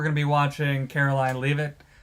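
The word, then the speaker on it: Leavitt: I always say her name wrong. Levit or Leave it. It's spelled leave it. I think people say it Levit. I think she says Levit. So, I'm going to say Levit.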